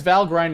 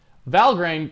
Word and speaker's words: Valgrind: Valgrind, or Valgrind, I believe is how it's pronounced.